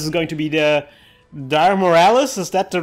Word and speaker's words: Dire Miralis: This is going to be the Dire Miralis. Is that the right pronunciation of this monster?